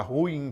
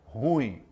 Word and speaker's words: ruim: palavra Então a palavra ruim por exemplo é uma dessas situações de cueca nas pessoas falam ruim é ruim é uma palavra oxítona Ok vamos aprender aí